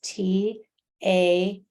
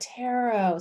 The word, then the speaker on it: Tarot: I don't know if you can see this, but see this T-A-R-O-T? Do you see that? Tarot.